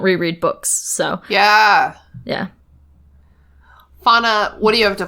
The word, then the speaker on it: Fawna: If you want to follow me on social media for the podcast, my name is spelled Fawna, like fawn, like a baby deer in A, so fawn.